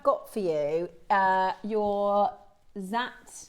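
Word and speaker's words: Dzi: So these are known as Z agate pronounced Z spelled D Z I and again they originated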